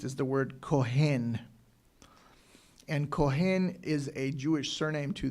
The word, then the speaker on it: Kohen: And Kohen is a Jewish surname to this day. They usually pronounce it in America as Cohen or Kohen. They want to be really precise.